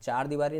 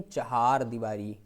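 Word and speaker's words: चहारदीवारी: उसके बाद में है चहार दीवारी, चार दीवारी नहीं चहार दीवारी, चहार दीवारी।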